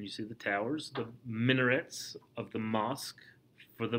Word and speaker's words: minaret: It rhymes with cigarette. M-I-N-A-R-E-T. Minaret.